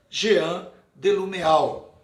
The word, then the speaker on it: Jean Delumeau: Pronúncia mais clara para vocês, Jean Delumeau, muito conhecido entre os historiadores.